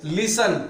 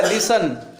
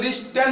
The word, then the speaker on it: listen: तो कैसे, यहाँ पे देखो लिसन में देखो EN है, इससे पहले टी है, वो टी साइलेंट रहता है। देखो लिसन, टी पढ़ा गया, लिसन, लिसन। अगर तुम अगर टी के ऊपर तो लिस्टन हो जाएगा, लिस्टन।